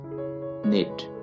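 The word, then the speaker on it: knit: निट, बुनना, निटेड, निटेड। यहाँ पे आपने के को नहीं पढ़ना है, के साइलेंट है।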